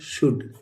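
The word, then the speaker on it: should: क्या होता है कुड एस एच ओ यू एलडी इसको शुड नहीं पढ़ेंगे दोस्तों यह होता है शुड क्या होता है शुड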